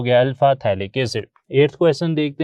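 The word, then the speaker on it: phthalic: हथेली एसिड जो है बोलने में तो इसे थैली कैसे पढ़ा जाता है लेकिन लिखने में पी ह लिखा जाता है जो की साइलेंट हो जाता है बोलते वेरी तो फिर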